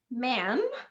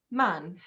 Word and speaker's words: man: apple astronaut astronaut okay so it's very short you cannot make it long like man in american accent it's man man okay and finally the